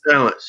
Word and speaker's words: Palance: Is that how you pronounce his last name? Palance? Balance, yeah.